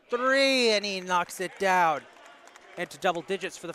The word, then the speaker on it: Dow: Rowe for three. Excuse me, Dow. I was saying it wrong.